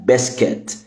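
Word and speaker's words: biscuit: اه البسكوت بالانجلش بسكت اليو هنا ماتنطقش مش بسكوت زي العربي لا بسكات بسكات ماتنطقش اليو اللي بعد السي بسكاتك بسكات عندنا كمان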